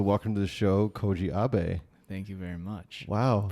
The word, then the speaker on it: Abe: Yeah, So welcome to the show, Koji Abe.